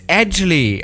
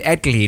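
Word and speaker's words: Edgley: jesus christ actually optica oh it's edgely okay i would have said eggly now okay now this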